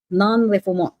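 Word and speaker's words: non-refoulement: Nonreont is spelled n o n r e f o u l m e n t. Non refum. It's the French spelling pronunciation.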